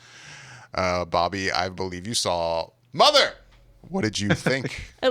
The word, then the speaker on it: mother!: Number 6 is Mother, in its 2nd weekend release with that's actually not how you say it, David. Mother.